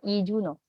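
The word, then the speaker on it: 이준호: dan huruf h huruf H itu tuh bunyinya lemah banget ya robun di bahasa Korea biasanya mereka tidak terbaca contohnya yang ini alih-alih I Junho kita akan baca dengan iuno Oke kalau yang ini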